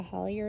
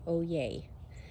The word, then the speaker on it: Hollier: And I put the Hollier in ground, or Hoye, or Oye, yes, LSU Oye is how it's pronounced.